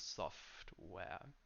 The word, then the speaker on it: software: So that's hardware and software. These words are made of two parts that are equally important, so that's called a compound word. So there isn't a syllable that's shorter, like high school, software, hardware.